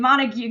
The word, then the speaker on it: Montague: We've got Julie building a Whitney farmhouse in Bowie in Montague County. Montag. I'm getting all the pronunciations.